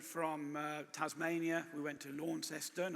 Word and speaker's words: Launceston: Graeme, having just returned from Tasmania, we went to Launceston. I don't know why they pronounce it Launceston, but rather as opposed to Launceston, but I particularly enjoyed your references to Tasmania.